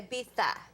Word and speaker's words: Ibiza: been there well I Americans say Ibiza but if you go to say they say Abita what are they doing